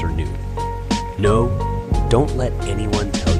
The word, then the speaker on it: Cernunno: Cernyx should always be pronounced Cernyx and Cernunno should always be pronounced Cernu.